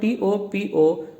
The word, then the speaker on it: topology: Now let's see first in the beginning what is the pronunciation of this word, TOPOLOGY, topology. Now let's break it, TO space Pol space OG, topology, ना कि पोलोजी।